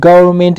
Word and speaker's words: government: ان نه تلفظ کېږي په condemn کې او په government کې چې ده ان هم نه تلفظ کېږي.